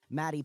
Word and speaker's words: Matty: go well first off my name is Maddie pronounced like Daddy and I am always